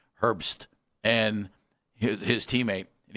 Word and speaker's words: Herbst: It's Herb with an S on the end. Herbst.